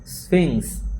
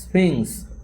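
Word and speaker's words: Sphinx: ঈশান ওটা হয় স্ফিংস। কী হবে উচ্চারণটা? স্ফিংস। ঈশান ঈশান ওটা স্ফিংস।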